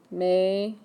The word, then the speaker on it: Meter: So, you're going to start off with Ich bin ein Meter, like Mater from the movie. Yeah, it is capitalized. Meter, pronunciation.